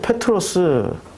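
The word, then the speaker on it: Πέτρος: 헬라식 이름입니까 예 베드로 페트로스 헬라식 발음으로 하면 페트로스 트 페트로 그러니까 어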